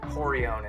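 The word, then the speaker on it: Rorion: names with art but in brazil that's going to be pronounced h because of portuguese so that's where you get names like horion and henzo the whole sport is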